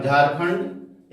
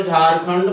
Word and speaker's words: झारखंड: झारखंड झारखंड ठीक है झारखंड ये र इसको साइलेंट भी नहीं करेंगे तो चलेगा कोई दिक्कत नहीं र ठीक है झारखंड झारखंड के बाद आएगा पश्चिम बंगाल ठीक।